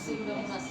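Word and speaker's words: Pseudomonas: bacteria দিয়ে হইতে পারেমোনাস নো পি উচ্চারণ হবে না সিউডোমোনাস ওকে ক্লিনিক্যাল ফিচার লিখেন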